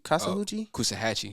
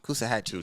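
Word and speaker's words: Coosawhatchie: Don't make me pronounce it. Like Savannah or something? What's a Hoochie? Kasahuchi? Kusahatchee.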